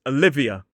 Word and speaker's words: Olivia: This one is Olivia, 4 syllables, stress on the second, and this actually has 2 schwas in it.